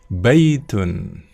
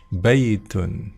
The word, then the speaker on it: بيت: Jadi kita tidak boleh membacanya dengan hadza gitu ya, tapi harus hadza, dua-duanya panjang. Baitun, ya, baitun.